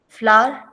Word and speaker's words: flour: जिसकी आवाज है फ्लावर की तरह आएगी. Okay, sir. It's weird. Okay, don't ask me why. Um, okay, so at least in America that's how it's said.